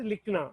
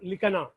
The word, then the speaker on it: लिखना: You have to pronounce as likhna, not likhana.